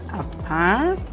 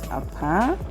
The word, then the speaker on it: Apam: upon us you know is normally pronounced apart for those who normally commute then those who are really residency that's how they call it apart and it's located approximately